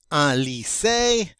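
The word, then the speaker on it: lycée: go next up is a lise remember y is considered an i it's pronounced like an i the e with the excellent egu over it is always pronounced a therefore we get ali say and that of course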